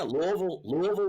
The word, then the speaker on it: Louisville: And yeah, Louisville is how you say it if you're native.